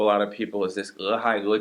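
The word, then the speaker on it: 俄亥俄: E, H-A-I, E, 俄亥俄, 俄亥俄州, the state of Ohio. If it's helpful for you, just put spaces in between the syllables. The letter E, space, H-A-I, space, E.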